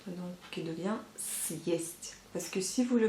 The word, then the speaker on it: съесть: Donc, съесть, pour que la lettre S soit bien dure, et ben, il faut mettre le signe dur après cette lettre, donc qui devient съесть.